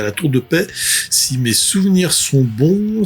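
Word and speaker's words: La Tour-de-Peilz: nom le plus improbable, qui s'appelle la Tour de Paix. Ça s'écrit P-E-I-L-Z, même l'orthographe est improbable.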